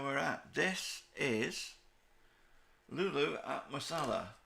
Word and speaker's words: Musella: this is lulu masala i think it's pronounced masala i am guessing to some degree it's masala in georgia i looked it up on google earth had a good look at it and it is right i don't want to